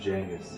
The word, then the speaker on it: Genghis: Do you get upset when people pronounce Genghis? Yeah. It's actually supposed to be pronounced Genghis.